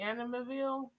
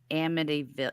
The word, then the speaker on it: Amityville: You remember that movie Animaville? Amityville.